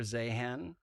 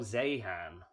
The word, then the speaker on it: Zeihan: sure so well firstly Peter zahan I think it's pronounced um zahan I think oh Zan okay fine uh but he's